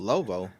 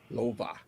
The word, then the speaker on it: Loewe: It's spelled that way, but it's pronounced Lovo. Yeah, it's pronounced the way you say it. Yep. Yeah. How's it pronounced? Lova. Lova.